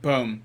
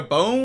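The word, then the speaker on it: Bohm: Boom, yeah. Boom. See, I was gonna get it wrong, so I asked. It's just a hard O.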